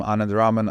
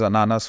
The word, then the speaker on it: Anand: to get so upset but he keeps saying my name is ananas which is not it's not a pineapple so so one last